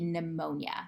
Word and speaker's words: pneumonia: an example would be pneumonia you don't pronounce the p there but if p n